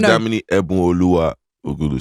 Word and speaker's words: Damini Ebunoluwa Ogulu: My name is Damini Ebunoluwa Ogulu, so it's like I just take out the Olua from the Olua.